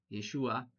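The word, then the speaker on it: ישועה: Se escribe con h al final tiene cinco consonantes. Yotshin, ain, hei, Yeshua.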